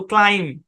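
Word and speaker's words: climb: শেষে এমবি be silent উচ্চারণ কি ক্লাইম ক্লিম না কিন্তু ক্লাইম ক্লাইম্ব উচ্চারণ খুব সম্ভবত এই শব্দটা আমরা সি এল কনসোনেন্ট ব্লেন্ডের ক্লাসে দেখাইছিলাম ওইখানে বলছিলাম যে এখানে বি সাইলেন্ট আমরা সাত নাম্বার সেকশনে আলোচনা করব এই যে হচ্ছে তার আলোচনা এখানে আই টা লং সাউন্ড দিবে ব্যাখ্যা কি কোন ব্যাখ্যা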